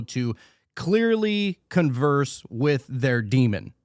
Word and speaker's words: daemon: So you would have a daemon, or it's spelled daemon, but it's pronounced demon.